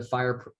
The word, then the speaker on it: FHIR: is now uh you know embraced embracing the fire the fryer protocol which uh fire is spelled fhir which is fast healthcare interoperability resources